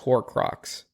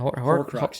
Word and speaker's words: Horcrux: Yeah, so Neville pretty much defeats the last Horcrux. How do you say it? Horcrux, yeah.